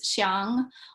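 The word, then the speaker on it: 象: In any case, it's again complex because the word for elephant in Chinese, xiang, also is pronounced the same as the word for image.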